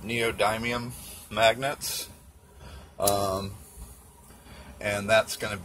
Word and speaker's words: neodymium: got these super strong, I think you pronounce it neodymium magnets, and that's going